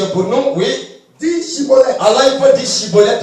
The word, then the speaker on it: Schibboleth: Cibolette. Il disait Cibolette. On dit Chibolette. Il n'arrive pas à dire Chibolette, il dit Cibolette.